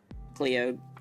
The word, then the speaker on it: Clio: Now, two strangers are going to be looking at my my my itty bitty Cleo titty. Okay, it's it's Cleo. Oh god, that's so cringe how I pronounced it in the beginning.